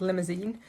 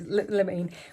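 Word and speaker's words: limonene: something called the limousine which i always called limousine but it isn't limousine my apartment spell it like that as well it's not how it is meant to be spelled it's lamene which is the active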